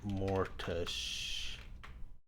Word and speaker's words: mortgage: How to pronounce mortgage.